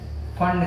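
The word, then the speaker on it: Pfund: अगला होता है फंड सीरीज, पी साइलेंट होता है।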